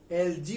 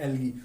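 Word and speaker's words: algae: कुछ लोग फंजाई को फंगी भी पढ़ते हैं और एल्गी को एलजी भी पढ़ते हैं, but these are the most standard pronunciation, fungi and एल्गी।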